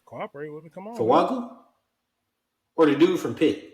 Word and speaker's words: Fuaga: Fuaga? Or the dude from Pitt, or the dude from Penn State. Fuaga. Dude from Penn State. No, Fuaga. No, Fuaga. So it's actually pronounced with an N. It's Fuanga.